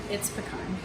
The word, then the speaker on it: pecan: It's pecan. That's the proper pronunciation.